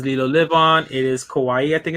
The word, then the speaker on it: Kauai: It is Kauai, I think it's pronounced.